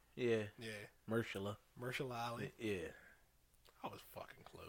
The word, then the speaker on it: Mahershala Ali: It's got Mahershala Ali. That's how you say his name, right? Yeah. Yeah. Mahershala Ali.